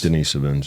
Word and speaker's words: Denisovans: Denisovans, yeah.